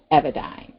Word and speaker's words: Evadyne: as a pharmaceutical antidepressant it's pronounced evidence exactly the way she spells it with the why she